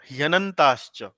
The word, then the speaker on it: ह्यनन्ताश्च: तो ह के साथ य जुड़ा हुआ है। ह जो है वो आधा है और उसके आगे य है, तो ह्य, जैसे हृदय बोलते हैं ना, ह्य हृदय, उस तरह से ह्यनन्ताश्च, ह्यनन्ताश्च, हाँ, बहुशाखा ह्यनन्ताश्च। श जो है वो आधा है, तो श की जो उच्चारण होगा वो आधे श की होगा, उसमें च को मिला दिया जाएगा।